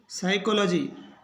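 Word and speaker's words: psychology: का इसमें उच्चारण नहीं होगा पी इसमें साइलेंट रहेगा pneumonia P एस वाई सी एच ओ एल ओ जी वाई तो इसको पढ़ेंगे साइकोलॉजी पी एस ए एल एम साम तो इसमें पी का उच्चारण नहीं होगा पहले पढ़ेंगे निमोनिया साइकोलॉजी साम साम का मतलब होता है भजन करना निमोनिया बीमारी या साइकोलॉजी मनोविज्ञान तो पी के बाद यदि ए हो और पी के बाद एस हो तो पी रहेगा साइलेंट ये ध्यान रखना है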